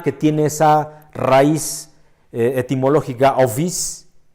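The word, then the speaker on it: ὄφις: serpientes, la serpiente, y que se deletrea fonéticamente ovis, O-P-H-I-S, pero se pronuncia ovis, ovis, serpientes, serpientes, la serpiente.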